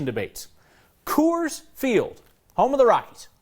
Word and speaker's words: Coors: my family and I have heard other families do call it say kurz there's a lot of Germans that came to Colorado and I know a lot of people probably pronounce Coors and the old German sense and it's probably just been passed down through the generations and that's probably why it's hurt as kurz I'm still sticking with Coors